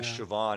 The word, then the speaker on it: Siobhan: the name of the band again pennywise uh siobhan it's spelled s-i-o-b-h-a-n it's uh it's a a gaelic